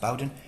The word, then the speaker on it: Bowden: So it's pronounced Bowden, but this one is by Christie Golden.